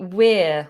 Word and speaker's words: we're: ways to say this it's got the diphthong ear in it like your ear ear and if you're going to use the diphthong ear and you have to make the movement e ear we're pulling our ears okay but a lot